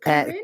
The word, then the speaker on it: Corinne: And also you chose a song called, do you pronounce it Corinne? Yeah, Corinne Bailey Ray.